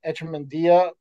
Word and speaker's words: Echemendia: Uh, I know a lot of people pronounce his name differently, but Echemendia is how Shane Sparks pronounced it on a Big Ten broadcast. So I'm going with Sparksy on that one.